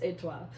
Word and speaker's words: étoile: But anyway, it is pronounced étoile.